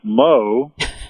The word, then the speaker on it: Mo: think it's true that yo rhymes with Mo.